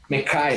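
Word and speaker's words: Mekhi: ataque mesmo, então eu fico de Mac Becton. Mekai, na verdade, né?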